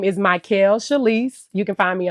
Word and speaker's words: Mikael: okay awesome okay so everybody my name is my Kel chalise you can find me on Instagram Facebook